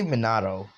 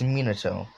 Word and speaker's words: Minato: monado i ca i say monado it's minato i don't know why